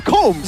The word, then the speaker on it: comb: It's combs, right? Comb? It's comb. It's comb. Oh, okay. It's catacombs, not catacombs. Oh, yeah, okay.